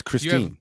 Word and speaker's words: Christine: here we have Chris Ste Lake oh it's Christine you have pson we have puton it's ptin